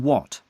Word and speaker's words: Watt: The name is pronounced like what, and not is pronounced like not.